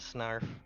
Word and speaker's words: Snarf: not penarth Nerf no no there's no r at the end the R's at the beginning it's a joke if you ever see ThunderCats that's snark I have yeah that is snarf and it is spelled like it looks quit ruining my childhood